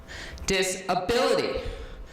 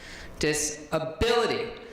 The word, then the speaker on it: disability: how we this ability the emphasis is on the disk and what just he taught is that I should be pronouncing it this way disability disability none of us are